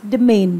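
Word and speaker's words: demesne: word is the main s is not there in the pronunciation when we actually pronounce the word that's becomes that becomes the main the main is estate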